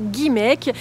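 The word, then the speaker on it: Guimaëc: vous accueille aujourd'hui à guimaek que vous prononcerez guimek commune de bord de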